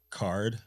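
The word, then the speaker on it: CAURD: to get screwed uh it's pronounced card whatever it's a curd program bro c-a-u-r-d is pronounced card but it is uh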